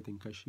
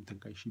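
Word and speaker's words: Tenkaichi: l'enjeu de de ce Budokai tenkaashi ou tenkaishi Budokai voilà les deux prononciations sont possibles et donc donc tu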